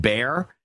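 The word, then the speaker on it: Barre: DSS in Barry you how is that pronounced b a r r e Vermont bear 1 2 3 4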